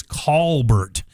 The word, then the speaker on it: Colbert: My pronunciation of my name actually is Colbert. as if it's an au, not an o.